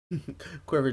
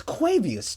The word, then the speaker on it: Quavius: Quiver Jr., thank you. Thank you for the follow. Is that even how you say no? That is not how you say it. It's Quavius Jr. Quavius Jr., welcome to the Fried Chicanery.